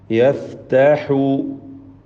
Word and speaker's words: يفتح: യഫ്തഹു യഫ്തഹു ഹാഇൻ്റെ ഉച്ചാരണമാണ് ശ്രദ്ധിക്കാനുള്ളത്. പ്രത്യേകിച്ച് തൊണ്ടയുടെ മധ്യം വസത്തുൽ ഹൽഖാണല്ലോ ഹാഇൻ്റെ മഖ്റജ്. ബൈനന ബിൽ ഹഖ് വഹുവൽ ഫത്താഹുൽ അലീം.